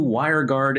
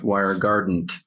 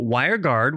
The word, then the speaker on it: WireGuard: New WireGuard NT shatters throughput ceilings on Windows, and it's not pronounced WireGardent as one of our producers thought, which I kind of like better.